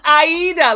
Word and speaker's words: Aida: It's Aida, like the opera.